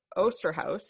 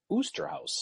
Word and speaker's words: Osterhaus: demonstration on Lookout Mountain because Osterhaus, or Osterhaus, as you learned today, it could also be pronounced, right? I heard Oosterhouse. Oosterhouse. So since we pronounce it all 3 ways, no one can give a shit for it. So save your emails because one of the ways is right. So unless you're German, and then you can tell us how to pronounce it properly.